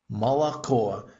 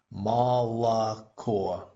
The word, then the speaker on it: молоко: Молоко. It's a really good example of how the O's that are unaccented become A. Молоко. Milk. Молоко. Молоко.